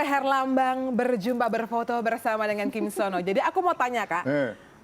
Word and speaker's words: Kim Seon Ho: Bacanya apa? Kim Sono ya? Kim Son Ho atau Sono gitu. Oh gitu ya, panggilannya Kim Son Ho atau Sono ya. Dan ini momen di mana Indra Herlambang berjumpa berfoto bersama dengan Kim Sono.